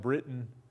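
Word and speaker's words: Breton: Even though the French spelling was usually B-R-E-T-O-N and is often pronounced Britain.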